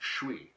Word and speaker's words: je suis: I also learned that a casual French speaker could pronounce je suis as just Shwee.